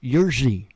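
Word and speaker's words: Jiří: the little clicky thingy but his name is pronounced yerzy but i can't i can't do that little thing you know that jersey i can't get it right but anyway i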